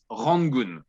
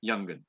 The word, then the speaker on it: Yangon: oh my god normally in the dictionary or on tv or official things we pronounce it rongon newsletter one more time but mostly foreigners people around the world journalists they say youngen even in french very nice you have